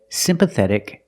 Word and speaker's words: sympathetic: The T is between vowels, so it's pronounced like a fast D.